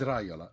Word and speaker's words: Raiola: Yeah, but it's Raiola. It is Raiola.